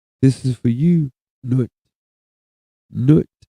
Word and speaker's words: Nwt: Nut is spelled NWT.